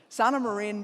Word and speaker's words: Sanna Marin: Sana Marine became Sana Marine.